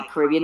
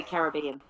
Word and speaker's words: Caribbean: It's it's it's it's a combination of a lot of Caribbean I say Caribbean. I'm copying your accent now. Caribbean accents. American. We say Caribbean.